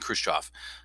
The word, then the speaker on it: Khrushchev: So in 1961, there's a meeting between JFK and Khrushchev. By the way, Khrushchev, that is pronounced the in Russian, the V at the end of the word is pronounced as an F.